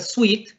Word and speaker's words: suite: de un vestido y si decimos suite como el dulce por ejemplo sweet estamos hablando de una